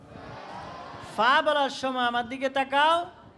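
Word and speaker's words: فاء: হবেন এরপরের হরফটা দেখো ফা বলো ফা ফা ফা ফা ফা বলার সময় আমার দিকে তাকাও ফা বলার সময় শুদ্ধ উচ্চারণ হলো উপরের দাঁত নিচের ঠোঁটের সাথে লাগাতে হবে উপরের দুইটা দাঁত কোথায়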